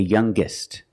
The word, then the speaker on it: youngest: a G sound stronger the youngest again with the G sound the strongest guest the